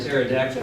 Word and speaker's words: pterodactyl: Why can't you hear a pterodactyl build in the bathroom? I didn't get that. Sedan. The P is silent.